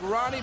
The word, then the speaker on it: Rani: He will go against, it looks like Rani, but it's actually pronounced, the R's, of course, pronounced H in Brazil.